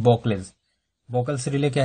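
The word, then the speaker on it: Buchholz: तो बॉकल्स रिले के बारे में पढ़ेंगे, प्रोनाउंसिएशन देख लीजिए, बॉकल्स रिले, कोई बॉकलेस भी पढ़ते हैं, बॉकल्स भी पढ़ते हैं, कोई मतलब बॉकल्स ही इसका सही प्रोनाउंसिएशन है।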